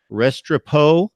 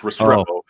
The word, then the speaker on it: Restrepo: 2020 wide receiver Xavier Restrepo who has committed to Miami and your thoughts about that commitment very nice that was the wrong emphasis in Spanish it's restorable but yeah I mean